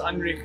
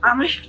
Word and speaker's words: Anrich: Yeah, I've heard Nokia, heard Nokia, but Anrich Nokia. Anrich Nokia. Anrich. Similar to Heinrich, except it's Anrich.